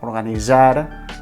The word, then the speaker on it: organitzar: Organitzar, globalitzar, canalitzar, etc. Una altra pronúncia admissible per altres gramàtiques o per altres manuals d'estil o normatius és la pronúncia DZ.